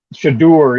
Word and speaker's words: Shedeur: And I don't know how you pronounce his first name, but Sanders, the quarterback, looked great. Shedeur, yeah.